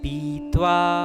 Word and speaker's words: पीत्वा: रखें कि प में जो ई की मात्रा है वह लघु नहीं दीर्घ है तो हम उसे कहेंगे पीत्वा गीता गंगोदकम पीत्वा